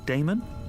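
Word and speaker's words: Daemon: gave me your card it says Professor a d a e m o n how do you pronounce that Damon if you prefer and this address I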